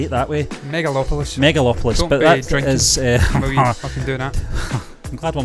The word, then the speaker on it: Megalopolis: how to say it mega meg megalopolis megalopolis is that how you're saying that that's right i get metropolis stuck in my head so i'm trying to say it that way megalopolis megalopolis i'm glad we'll